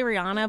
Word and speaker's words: Rihanna: say zanda same with Rihanna I say Rihanna but I think it's Rihanna technically but I'm like people are